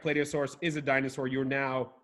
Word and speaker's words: Plateosaurus: do saurus plio saurus you mean Plateosaurus you're gonna fact-check my pronunciations I've never heard plot EO but maybe play do play do source what are your thoughts yes yes Dino yes final answer yes that is correct play do source is a dinosaur you're